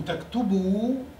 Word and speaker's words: تكتبوا: أنتم تكتبوا. Notice the extra ألف that's added but is not pronounced.